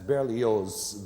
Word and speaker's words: Berlioz: That's Berlioz, the Z is pronounced.